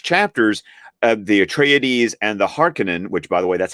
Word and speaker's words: Harkonnen: tell from these chapters, the Atreides and the Harkonnen, which by the way, that's how Herbert pronounced it. I used to pronounce it Harkonnen all the time, but the Harkonnen, there's a schism there.